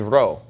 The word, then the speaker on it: Rho: to get used to pronouncing this as an R sound and not as a piece out and just keep